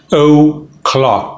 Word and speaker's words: o'clock: is one o'clock one o clock note the apostrophe voice quality pronunciation it's one o'clock o is a schwa one o'clock six o'clock